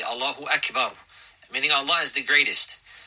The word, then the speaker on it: Allahu Akbar: So therefore, a believer, he will not put elongations wherever he likes or feels like, but rather he will He will pronounce the words properly, and this requires learning. Allahu Akbar, like this.